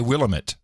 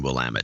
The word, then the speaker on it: Willamette: it will am it most people don't know how to pronounce will I'm it how would you pronounce it otherwise oh people say willamette oh no it's always been will am it yeah and I know